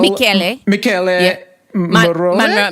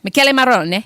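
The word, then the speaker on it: Michele Morrone: Michele Marone? Marone, yeah. Michele Marone, yes.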